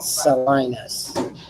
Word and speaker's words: Salinas: Instead of or Salinas, pronounce it Salinas. It's like the city exact.